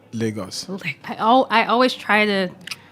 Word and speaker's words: Lagos: Portuguese so I'm sure Lagos is maybe highest pronouncing in Portugal but it's Lagos where we are from Lagos yeah Lagos okay